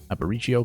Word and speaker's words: Aparicio: cutter there to pop him up to short Aparicio playing shortstop I watched a very interesting video